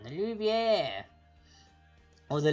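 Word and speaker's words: Louvre: The Louviere. Or the Lovray, if you want to pronounce it literally how it's spelled, but that's not how it's actually said.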